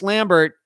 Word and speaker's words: Lambert: Chris Lambert is the Highlander. Yeah. Well, his actually, Christopher Lambert is how you pronounce his last name.